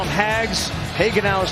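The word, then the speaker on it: Hagenow: haenow now joins us they call him hags hagenau is how you pronounce the last name you got a buddy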